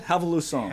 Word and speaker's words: Revolução: Revolução.